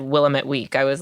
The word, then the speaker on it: Willamette: a weekly no it's Willamette Week but it was like Willamette Week versus Willamette Week it's like a very non-portland pronunciation and I'm like Robert